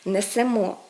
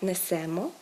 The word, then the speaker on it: несемо: а не йдемо йдете правильно казати несемо несете а не несемо несете правильно казати сміємося смієтеся